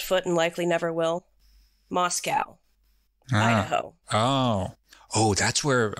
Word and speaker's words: Moscow: the University of Idaho and it is pronounced pronounced Moscow Moscow Moscow yeah they want to differentiate themselves